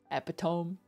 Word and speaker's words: epitome: Epitome. If you read the word first before hearing someone say it, you probably struggled to learn that it was epitome instead of epitome.